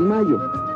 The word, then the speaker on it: Mallo: Para decirles, aquí donde canta el gallo, está Laboratorios Mayo. Y Laboratorios Mayo se escribe como gallo. LLO Laboratorios Mayo.